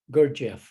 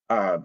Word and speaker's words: Gurdjieff: Gurdjieff with a G. Gurdjieff.